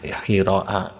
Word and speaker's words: Hira: hiiro kama fahihain kemarin mungkin saya baca hara itu ee keliru ini yang betul ya Oh, ada ham di Hira di gua Hira mungkin saya kemarin keliru bacanya hara ya.